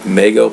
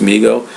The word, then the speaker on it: Mego: Man video I talked about a company called mego but it's actually pronounced Migo that made it made an action figure called